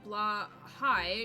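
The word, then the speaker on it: Blåhaj: of it yet so the letter a with a circle above it is pronounced kind of like shaw just without the sh and the j at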